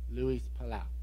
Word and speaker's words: Luis Palau: It's Luis Palau, I think is how you say his last name. No. Luis Palau.